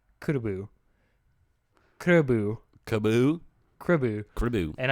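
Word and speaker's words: クラブ: He's like, basically say club without the L and put another syllable on it. It's kurubu.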